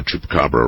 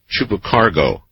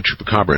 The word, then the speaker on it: Chupacabra: Last night, someone butchered the pronunciation of Chupacabra in an interesting way. I believe he called it Chupacargo.